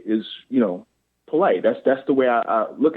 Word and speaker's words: Polite: to mispronounce the name, polite. I'm like, no, it's polite like the word. It's say it how it's spelled.